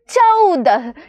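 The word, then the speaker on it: चौदह: കൊടുത്താൽ ഇത് എന്ത് വായിക്കും ചയുടെ കൂടെ ഔ എന്നുള്ള ചിഹ്നം ഇട്ടു കൊടുക്കുമ്പോൾ ചൗ എന്ന് വായിക്കുന്നു ഇതെന്താണ് ദ ആണ് ഇത് ഹാ ആണ് ചൗദഹ് ചൗദ എന്ന് വെച്ചാൽ എന്താണ്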